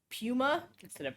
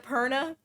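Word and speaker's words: Purna: All free, all great, except a robot was reading it, so they pronounced her name as Puma. Instead of Perna.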